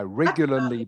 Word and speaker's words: regularly: I regularly brush my teeth in the afternoon. Okay, that's good pronunciation, Anji. So this word is a little bit more difficult to pronounce because it has the two L sounds, regularly.